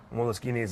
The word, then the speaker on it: Moleskine: Basically, an Italian company revamped the historical Moleskines, and that's what we have today. And there's no moleskin involved. It's actually Moleskine because that's just the way it's pronounced in Italian.